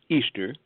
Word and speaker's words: Ishtar: Ishtar, which is pronounced Easter, was a day that commemorated the resurrection of one of their gods that they called Tammuz.